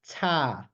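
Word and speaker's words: 他: for thumb or him but also her is pronounced ta okay and so let's try another one so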